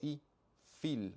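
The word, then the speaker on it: הִפְעִיל: f no sabemos que la p cuando no lleva dages se pronuncia como F por eso I Fil no ipil sino ifil o fal Y tenemos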